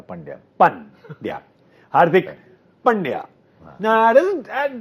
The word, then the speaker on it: Pandya: Pandya. Pandya. As in, starts with a bad joke, yeah, Pandya.